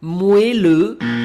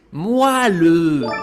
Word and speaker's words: moelleux: Alors, certains profanes prononcent ce mot moelleux, sauf qu'il doit se prononcer moelleux.